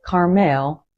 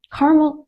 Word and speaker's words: Carmel: And remember, it's not pronounced like Carmel in California. So, Carmel is the kind of community where neighbors actually know each other.